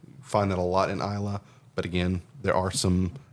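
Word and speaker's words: Islay: of well-known ones is ISA it's i l a y pronounced Isa it's an island off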